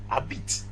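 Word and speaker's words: habiter: accra the verb is a bit a bit start with a silent h let's note that in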